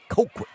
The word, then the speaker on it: Colquitt: Apparently, it's hard for them to even pronounce Colquitt. It is. What is up with that? Colquitt. Colquitt.